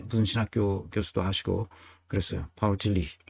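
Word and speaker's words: Paul Tillich: 신학교 교수도 하시고 그랬어요 파울 틸리 이렇게 그 영어 발음이라 이제 폴틸리히 아고 또 발음하는데 실제로이 어 다 독기를 쓰는 사람들입니다 그니까 루돌프 볼트만 칼바르트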